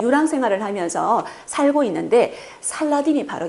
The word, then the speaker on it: 살라딘: 또 빗을 암의 손에 넘어가게 되서 결과적으로 그러면 살라딘은 어떤 유물이 인감 살펴보겠습니다 살라딘은 살랑 학비나 괴력을